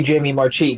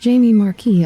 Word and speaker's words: Jamie Marchi: Ah, so unnecessarily sexy Jamie Marchi, gotcha. Yes. Also, her name is pronounced Jamie Marquis, apparently.